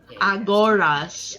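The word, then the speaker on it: Agoras: a s a g o r a s aoras okay yes aoras sorry my English accent is very aoras okay aoras aoras right do follow aoras he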